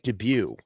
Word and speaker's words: debut: Yeah, the T is silent. No, but the A in the after the D is what I always mispronounce. It's debut. That's why I get it wrong.